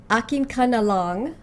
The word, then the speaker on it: Akin Ka Na Lang: to check out for my first reaction to her is Akin Ka Na Lang, because from what I understand, this is her song.